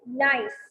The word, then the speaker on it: gneiss: ये इनकी जो स्पेलिंग है GNTISS, this is gneiss.